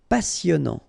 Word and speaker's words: passionnant: Final T not pronounced. Passionnant. Cher.